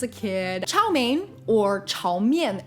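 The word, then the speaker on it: 炒面: kid chow mein or chao myem as it's properly pronounced in mandarin is just stir-fried noodles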